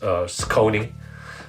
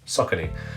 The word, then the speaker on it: Saucony: pronounce the name, and it was literally like sock, like the sock you wear on obviously, and knee. So altogether it's SAUCONY, and that is how you pronounce it.